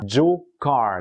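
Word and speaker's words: Jocarr: Alors là, le jeune homme aujourd'hui se fait passer comme étant Joe Carr, donc J-O-C-A-R-R, qui ressemble étrangement à la prononciation anglophone de Joker.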